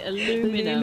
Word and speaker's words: aluminium: get Sam to say aluminium for us what was aluminium what what's wrong with that I because the Americans say aluminum aluminum I know they certainly